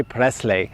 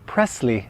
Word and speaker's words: Presley: Poland Polish people say not Presley but Presley Elvis Presley never ever say Presley the correct pronunciation here is Presley Elvis Presley traveling a